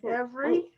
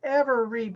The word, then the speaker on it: every: in the middle so the first one is spelled ever read but we don't say it that way we say every we say it in two syllables every also go ahead